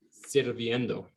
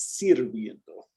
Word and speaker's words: sirviendo: Él está sirviendo. And this one's a little irregular. It's sirviendo.